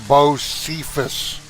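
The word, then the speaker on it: Bosephus: Celestria, you pronounce my name Bose Sephus.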